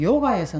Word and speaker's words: 요가: 육아라고 하는 이 말은 뭐냐면 인도의 요가에서 나온 거예요. 그 원래는 요가사인데 이것을 중국 발음으로 육아라고 이렇게 돼 있지만 실제는 발음이 요가입니다.